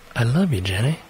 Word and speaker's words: Elilou Jenny: Elilou Jenny, that is pronounced as I love you, Jenny, provides women with both style and comfort, especially when it comes to restroom affairs.